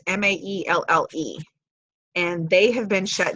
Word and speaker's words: Maelle: I'm not really sure how it's pronounced. It's Maelle.